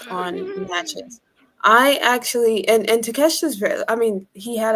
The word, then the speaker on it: Takeshita: our lovely Orange Cassidy against Takesha. Takesha, I So believe it's Takesha. Takesha, yep. I phonetically wrote it down.